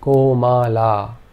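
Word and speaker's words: कोमल: The O is always a long vowel sound, and the A with a bar over it is a long vowel sound. So this word is pronounced Komala.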